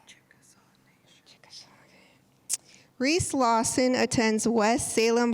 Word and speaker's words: Chickasaw: Chickasaw.